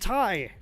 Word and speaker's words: TIE: This idiot doesn't even know it's pronounced Tai. No, it's spelled out right there, buddy. You just got to read it. Tie.